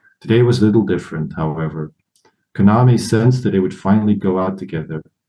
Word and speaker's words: Kaname: I'm just noticing that you're pronouncing his name Kaname, which I believe is the correct way. I believe it was accent on the second syllable, but I had forgotten it.